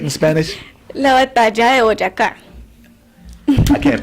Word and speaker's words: Boyacá: La batalla de Boyacá. I can't pronounce that, sorry.